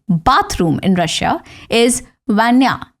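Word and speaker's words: ванная: 12थ एंड बाय द way bathroom in Russia is वैान्या। वैन्या with अ stress on the first letter ए।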